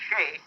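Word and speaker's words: Skjei: That's spelled S-K-J-E-I, pronounced Shea.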